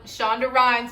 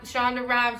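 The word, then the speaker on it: Shonda Rhimes: thought i was i thought i was shawn shonda rhines with that lie that's her name shonda gran shonda rhymes with that line i thought let me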